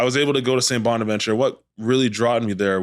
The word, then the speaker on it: Saint Bonaventure: Bonaventure to come in yeah that's how you pronounce it I know it's tough for some people out there but Saint Bonaventure so yeah coach Massey came up and uh